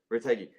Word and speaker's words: Retegui: We got DiMarco scored, Di Lorenzo, Fratesi, and how do you pronounce our nine's name? Matteo, the guy from Retegui. Retegui.